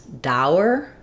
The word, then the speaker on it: dour: Dour actually sounds the same as tower. So when I'm saying dour, I have the ow diphthong and then the sound.